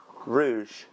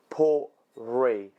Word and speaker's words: Ruighe: Rouge. Port Rouge. No, it's not. Don't lie to me. Port Ruighe. Port Ruighe. That's how you pronounce it.